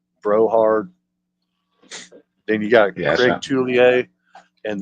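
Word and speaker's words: Brouhard: with then you have Eli brard or Brohard I'm I think I'm pronouncing that last name right it's BR o u hard broh hard then you got julier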